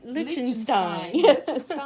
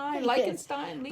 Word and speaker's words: Lichtenstein: This is Lichtenstein. Lichtenstein.